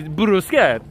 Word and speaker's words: bruschetta: you did but then i had someone teach me the proper way and now i really impress the server when i say i will have the bruschetta i just want to